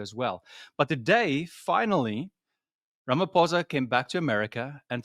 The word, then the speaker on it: Ramaphosa: He actually pronounced that correctly. It is Ramaphosa, not Ramaphosa, as some of the news channels are saying.